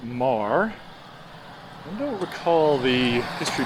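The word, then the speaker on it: Meagher: actually spelled e m-e-a-g-h-e-r a lot of people mispronounce it as meager it's kind of a nice little deal there um but it's pronounced mar i don't recall the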